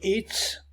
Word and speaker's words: it's: Vous allez remarquer que it's, ici, il est prononcé avec un S à la fin, pas comme ici avec un Z.